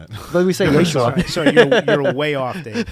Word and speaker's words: Yeshua: a point where one of the songs called Yeshua, some pronounce it Yeshua, for the name of Jesus.